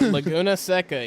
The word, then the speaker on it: Laguna Seca: normal, is what I've been told here at Laguna Seca. Did I pronounce that right? Yeah, Laguna Seca.